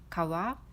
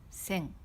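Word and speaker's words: 川: Ça se prononce kawa ou sen.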